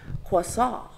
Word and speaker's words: croissant: by referring to them using the proper French pronunciation quasa I will not annoy